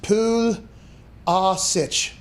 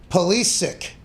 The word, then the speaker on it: Pulisic: a croatian name is technically supposed to be pronounced pool ah sich pulasic however who was born united states prefers for his surname to be said as police sick in an american eyes fashion with a hard